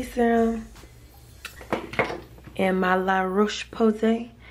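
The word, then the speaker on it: La Roche-Posay: C serum and my La Roche Posay every time I say that I gotta say it like them La Roche Posse cleanser I got the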